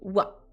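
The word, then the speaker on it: は: Ça s'écrit ha, c'est le hiragana ha, tu as raison, mais il se lit wa.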